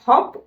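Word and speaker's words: hope: হ এর মিনিং আছে তার মানে তুমি যদি এই শব্দের শেষে বসো তখন ও আর হপ উচ্চারিত হতে পারবে না ও উচ্চারিত হবে ওর নিজের নামের উচ্চারণ করবে নাম কি ও তখন হয়ে যাবে হ ঔপ হোপ হ ঔপ হোপ আর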